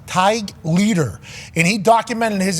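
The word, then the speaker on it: Tadhg: named Ty Ty who it's an Irish name t a d g but I believe it's pronounced TIG leader and he documented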